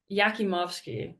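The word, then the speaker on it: Jakimovski: leading the Buffs with yakimowski that's that's how you say it um 17 points four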